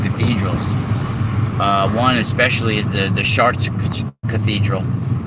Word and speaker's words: Chartres: One especially is the Chartres Cathedral. It's spelled C-H-A-R-T-R-E-S, but it's kind of pronounced like a shit fart, like Chartres.